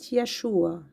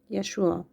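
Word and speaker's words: ישוע: So it's uh we pronounce it Yeshua. Yeshua.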